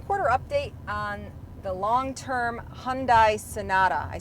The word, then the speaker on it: Hyundai: today, let's get an update on our long-term Hyundai Sonata. Here are and Jake Lingeman. Hey, I'm riding shotgun here with Jake, and we're bringing you today our second quarter update on the long-term Hyundai Sonata.